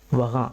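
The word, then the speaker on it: वहाँ: போது கொஞ்சம் கவனமா உச்சரிங்க இந்த வார்த்தைகளை உச்சரிப்பு முடியும் போது இந்த இங்குற இங்கு அப்படிங்கிற வார்த்தை வந்து சைலெண்ட்டா பிளே ஆகும் சரிங்களா கஹா யகா வகா நீங்க அழுத்தி உச்சரிக்கணும்னு அவசியம் இல்லை கஹாங் யகாங் அப்படின்னு சொல்லணும்னு அவசியமில்லை கஹா யஹா வஹா அந்த இங்கங்கிறது சைலண்டா இருக்கணும்.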